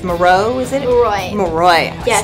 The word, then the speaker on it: Moroi: Moroi.